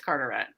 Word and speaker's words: Carteret: The town that I work in is Carteret, but everybody that like calls up or whatever, they're always like Carteret. I'm like, we're not that fancy here. It's Carteret. It's not that.